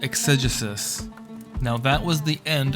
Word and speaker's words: exegesis: over again properly until I got it right exegesis spelled e ex e g s i s